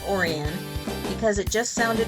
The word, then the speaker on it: Orion: Either way, it's pronounced Orion because it just sounded right, poetic, and almost magical.